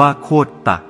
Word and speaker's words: โคตร: บาง กลุ่ม เห็น ว่า คำ ว่า โคตร อ่าน ว่า โคต ตะ อาจ มา จาก คำ